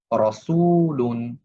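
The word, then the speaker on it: رَسُولٌ: সেখানে জবর বা পেশ থাকলে রটা মোটা করে উচ্চারণ করতে হয়। যেমন রসুলুন রজিকু ওলা।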